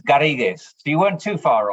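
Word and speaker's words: Garrigues: bear with me here this is the French word uh I'm not sure how we pronounce it in English it could be Garrix please correct me UK LLP it's actually Spanish and it's garriguez if you weren't too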